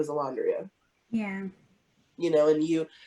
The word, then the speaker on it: Alondria: name i'm like oh it's a laundry and i say i slow it down so they can hear it phonetically like they automatically dismiss